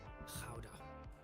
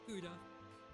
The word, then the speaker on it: Gouda: I bet you've been pronouncing this one wrong your whole life. Howda. Howda. That's right. Howda. Not Gouda. Not Gouda. Howda. Howda. You're welcome. You gotta really use your throat.